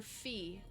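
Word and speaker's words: phi: Is it Is it fi or fe? How do you pronounce that one? Fi like eyeball fi.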